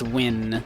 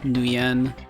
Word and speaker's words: Nguyen: I suppose actually it's probably pronounced win, right? Would be the correct pronunciation of that, not Nguyen.